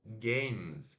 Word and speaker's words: games: Esse E não se fala, tá? Então é apenas o som. Games, games. Portanto, essa palavra tem apenas uma sílaba.